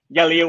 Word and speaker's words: Yelir: It's not a 4 to Y. I get a lot of people saying to 4. It's Yelir World.